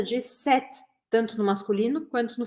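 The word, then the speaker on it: cet: repetir a pronúncia de set tanto no masculino quanto no feminino que é exatamente a mesma eu vou falar set set set o que eu não posso fazer é falar sete não é set tá não é sete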